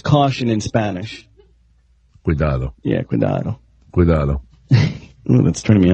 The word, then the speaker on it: cuidado: Yeah, cuidado. Cuidado. Ooh, that's turning me on. And yes. I speak Spanish, but she just not saying it right. It's cuidado.